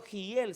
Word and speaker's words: Hiel: 500 años después, viene Hiel, en hebreo Giel se escribe, Giel, y Giel quiere edificar Jericó.